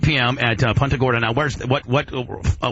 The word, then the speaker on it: Punta Gorda: it's not uh it's not a Gorda oh Punta Gorda is that how you pronounce it yeah absolutely that was actually the